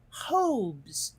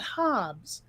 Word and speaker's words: Hobbes: when i asked my parents how do you pronounce that they said hobes not hobbes and it kind of made sense to me